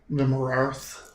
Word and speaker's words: Vimyrarth: It introduces itself as Vimarath, Lord of the Red. Vimyrarth. Vimarath. Lord of the Red. And she has chosen this peak as her home. Spell that shit again. Vimyrarth.